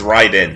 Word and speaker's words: Raiden: Raiden, the god of thunder, powers the stomachs of children, kappas. The Japanese pronunciation is Ryden.